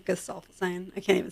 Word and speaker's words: Gesaffelstein: Well, I guess it'll be a mystery because he doesn't even do interviews, so we don't really know how it's pronounced. It's Gesaffelstein.